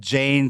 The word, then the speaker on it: Jayne: we go is that jane throws a y into her name yeah it's jane but with a y oh see that's when